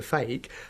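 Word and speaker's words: feke: because it's not a real egg okay a fake is something that looks real but it's not and it's spelled f-e-k-e sort of magician's terminology a gimmick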